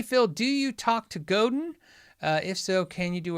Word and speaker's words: Godin: I've had 2 conversations with Godin over the years. Both conversations were when I did the how do you say their name, which is Godin.